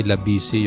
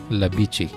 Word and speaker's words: La Bici: Akala ko dati Labici yung pronunciation nito, pero Italian word pala siya, Labici yung uh, pronunciation niya.